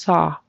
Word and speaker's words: saw: out to me was the word saw a a when i s it kind of went into a s it needs to be just saw saw just straight open tall saw saw when I